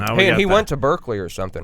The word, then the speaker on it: Berkeley: actually, that's mispronounced too because it was named after George Barclay, even though it's spelled Berkeley. It should be pronounced Barclay.